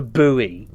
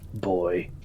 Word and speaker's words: buoy: You do say it right. Not a buoy. No. Boy.